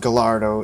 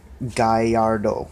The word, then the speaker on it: Gallardo: guys is the Lamborghini Gallardo's and it's not pronounced Gallardo it's pronounced guy a little guy yard oh it's it's a bit Spanish or Italian the